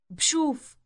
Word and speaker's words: بشوف: It begins with a B sound followed immediately with a sh sound. Listen. بشوف بشوف The B sound is the part that marks the present tense.